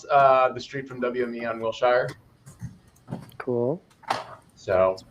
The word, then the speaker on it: Wilshire: It's right across the street from WME on Wilshire. Cool. So, Pronounced Wilshire.